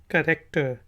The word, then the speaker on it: character: कैरेक्टर। H silent है, कैरेक्टर।